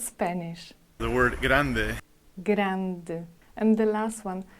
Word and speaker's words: grande: The word grande. Grande. And the last one, letter E has to be spoken. Otherwise, believe me or not, you will say it in Spanish.